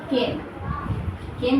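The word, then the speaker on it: came: तो यहाँ पे सब्जेक्ट क्या है, डॉक्टर, तो यहाँ लिखेंगे द डॉक्टर, डॉक्टर केम भी बोल सकते हैं, खेम भी बोल सकते हैं, सही प्रोनाउंसिएशन होता है खेम, द डॉक्टर खेम, ठीक है।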